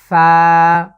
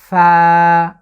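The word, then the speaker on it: فاء: এর নাম হচ্ছে ফা। আবারও খেয়াল করুন, ফা। আমি উপরের যে দাঁত আছে সেই দাঁত দিয়ে নিচের যে ঠোঁটের পেটকে আমি স্পর্শ করছি, ফা।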